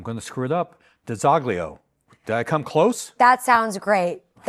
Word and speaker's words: DiZoglio: All of my Italian nannas across the state remind me that the corre correct way to say it is Dolio.